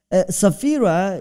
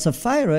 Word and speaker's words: Sapphira: interfere in my mind so safira is a tamil way of saying but sapphira is english way of saying and what is the